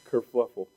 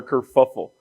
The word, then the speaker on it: kerfuffle: Kerfluffle. Yeah, is that how you say it? Kerfluffle or kerfuffle?